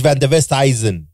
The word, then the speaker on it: van der Westhuizen: Team Zimbabwe, Paige van der Westhuizen.